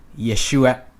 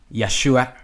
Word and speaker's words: Yeshua: pronunciation for those okay first name we have Yeshua yay shoe or yeah sure uh Yeshua Yeshua Yeshua next we have the